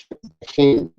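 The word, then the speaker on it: hm: In English, we would spell that H-E-M. In Kemetic alphabet, they have H-M, heme.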